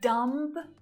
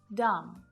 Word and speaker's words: dumb: Not dumb, dumb.